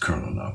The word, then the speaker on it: colonel: colonell so colonal is how it's spelled it's pronounced colel used to speak colal uh ecclesiastic aestic doesn't rhyme but otherwise we're